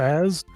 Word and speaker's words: AZ: For those who said like on the bulb cast that AZ's name is pronounced Az, I have never once thought it